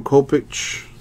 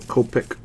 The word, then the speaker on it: Kopech: We got Michael Kopech to 125. White Sox, or Kopech. I think that's how you pronounce that. The CH is like a K sound.